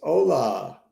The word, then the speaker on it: hola: 2 is with us hola is that how you spell hola I guess so um it certainly is is a silent h Silent Age I think